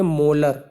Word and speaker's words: M: Capital M जब आप यहाँ यूनिट लगाएंगे इसके साथ में तो इसको प्रोनाउंस करते हैं मोलर। क्या बोलते हैं, मोलर, MOLAR, ठीक है।